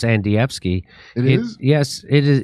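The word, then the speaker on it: Andrzejewski: so this guy his name is uh Adam anfi and HEI he's it's it's pronounced andvi it is yes it is he is the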